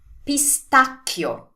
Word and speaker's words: pistacchio: the same spelling, but we pronounce it the Italian way. Do you remember what we saw about the H making the sounds hard? We have an H here, so we have a CH here.